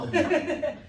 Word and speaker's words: pound: Pound. O D tem que sair quase sumindo, né?